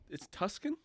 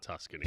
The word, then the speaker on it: Tucson: It's Tuscan. It's not Tuscany. Tucson. Why is there a C in there? C is silent.